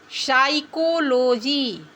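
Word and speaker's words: psychology: बच्चों पी के बाद एस टी एन आता है तो भी पी साइलेंट रहता है। एग्जांपल देखते हैं। साइकोलॉजी पी एस सी वाई सी एच ओ एल ओ जी वाई इसको पी साइकोलॉजी नहीं पढ़ेंगे।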